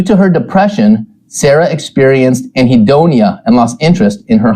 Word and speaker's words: anhedonia: you in the very beginning uh now Whitney pronounces it anonia which I think sounds way cooler maybe because